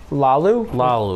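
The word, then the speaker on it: Laulu: How do you pronounce it? Jonah Lalu.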